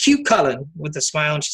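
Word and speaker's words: Cú Chulainn: getting off the one time chief said it's pronounced cute color with the smile and she said have a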